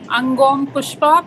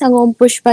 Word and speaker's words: Angom Pushpa: to Angom Pushpa. Please tell me if I'm pronouncing your name right. Yes, ma'am. Okay, perfect. Yeah, good afternoon, ma'am. Good afternoon. Yeah, my name is Angom Pushpa.